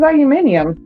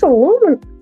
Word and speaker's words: aluminum: and I was like, what the fuck is aluminium? What is that? what is aluminium? Hold on. Oh my Lord. I had to read the caption. I said, wait, no, that's aluminum.